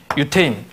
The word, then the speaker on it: 유대인: 유대인. 발음을 좀 더 세게 하면 유태인.